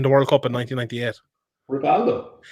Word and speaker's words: Rivaldo: Rivaldo. Hivaldo, you mean, is it? Hivaldo. Is that what it is now? It is though. That's how they pronounce it.